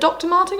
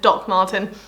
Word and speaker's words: Doc Martens: Is it Dr. Martin or Doc Martin? Doc Martin. That's kind of embarrassing. I have like 5 pairs. I'm a huge fan. I just always get the name wrong.